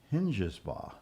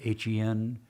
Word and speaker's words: Hengesbaugh: Hengesbaugh.